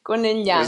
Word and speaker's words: Conegliano: Was Conegliano. that Conegliano? Conegliano, exactly. So just forget this G in the middle of the word. No, you have to pronounce GL.